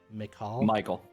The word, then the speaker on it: Michael: Father, how do you pronounce it, TC? Michael.